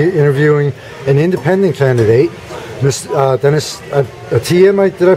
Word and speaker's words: Atiyeh: I'm personally a registered independent, and it's a pleasure to be interviewing an independent candidate, Dennis Atiyah. Did I pronounce that correctly?